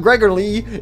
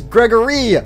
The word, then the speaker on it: Gregory: out of here what my name's not gregor lee it's gregory say my name right oh my goodness all